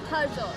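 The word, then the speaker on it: Harjot: Harjo. I I assumed you were not able to say my name right. It's H A R J O T. Yes. Har. Hara.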